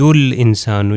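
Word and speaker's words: الإنسان: اسی طرح یرید الانسان، یہ الف سائلنٹ لیٹر ہے، تلفظ نہیں ہوگا.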